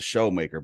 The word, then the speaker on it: Shoemaker: he spells a sh it's spelled Shoemaker but he pronounced the show maker bald headed why dude